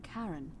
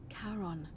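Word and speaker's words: Charon: it's just as you described it only your pronunciation is a little off the name you heard wasn't karen it was c h a r o n as in caron definitely who in exchange for the right coin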